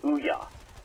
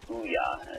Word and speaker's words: OUYA: It's called the OUYA. It's like booyah, but without the B. OUYA. It's spelled O-U-Y-A.